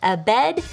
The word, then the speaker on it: Abednego: That's how you say it. Abednego. Nego.